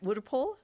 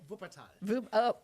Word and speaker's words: Wuppertal: If I'm saying it right, Wuppertal, Germany? Wuppertal.